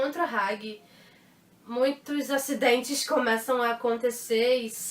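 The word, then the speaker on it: Hagi: Engraçado que muita gente fala Had. E uma vez eu já fui até corrigida, assim, no meio de um evento de anime. É Had. Não é Had. Se escreve H-A-G-I. É Hag.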